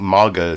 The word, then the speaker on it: MAGA: the main topic is maga or do you say that mega or maga some people i think maga seems to be the preferred pronunciation but maga republicans a